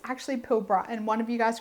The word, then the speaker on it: Pilbara: I was pronouncing it Pilbara, but it's actually Pilbara, and one of you guys corrected me.